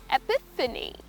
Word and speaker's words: epiphany: Well, the word for this sudden revelations is called as Epiphany. Yes, that's the word that you use it. It's just pronounced as Epiphany.